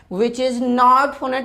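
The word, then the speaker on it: know: 90 क्या हो गया यहां पर के साइलेंट हो गया यानी के का साउंड ही नहीं लेते हो क्या बोलते हैं नो यानि के क्या हो गया साइलेंट इसलिए इसको बोला गया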